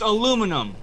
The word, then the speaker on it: aluminum: It's pronounced aluminum.